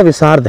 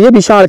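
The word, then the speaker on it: विषाड़: देखिए विषद विषद है नाम सही उच्चारण विषद है लेकिन इसको बाद में धीरे धीरे अभ्र होते होते विशाल कहने लगे थोड़ा सा भाषा की व्याकरण अ शुद्धता के कारण य वि विशाल हो गया लेकिन असली जो उच्चारण है इसका यह विषद है तो बहुत लोगों को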